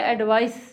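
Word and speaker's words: advise: When you are talking about एडवाइस एज a noun तो उसको बोलेंगे एडवाइस, और वर्ब होगा तो एडवाइस.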